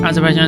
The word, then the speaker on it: Azerbaijan: Azerbaijan is how you say it.